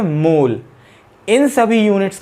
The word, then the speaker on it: mole: अभी सिर्फ आप इतना जाने, क्वांटिटी ऑफ मैटर एक फंडामेंटल क्वांटिटी है जिसकी यूनिट होती है मोल और जिसका सिंबल होता है MOL और स्पेलिंग होती है MOLE।